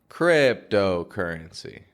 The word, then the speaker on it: cryptocurrency: your attention to is how my voice raises in and Fades off in the word currency it isn't strong all the way through like cryptocurrency but it's strongest in the crib part cryptocurrency that's where we put the stress in that phrase now 99.9% of